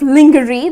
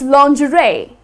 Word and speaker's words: lingerie: Well, though, if you look at the spelling, it's kind of lingerie. That's how people tend to pronounce it. But that's incorrect. The correct pronunciation is lingerie.